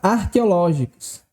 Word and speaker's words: arqueológicos: rapidamente o nosso gabarito sobre qual sílaba aqui recai a tonicidade da palavra arqueológicos veja que a sílaba tônica é exatamente essa aqui circulada em vermelho l e veja que essa sílaba é a antepenúltima sílaba da palavra o que faz com que essa palavra seja uma palavra proparoxítona perfeito e aí se